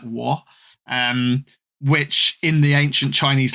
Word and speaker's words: Wa: lands of Wo, or spelt WA but pronounced, I think, more like Wo.